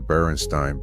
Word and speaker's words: Berenstain: just like I remembered the Berenstain Bears spelled with an E, not an A. My mom had all the books in the basement and the name stuck in my head because it sounded like Frankenstein.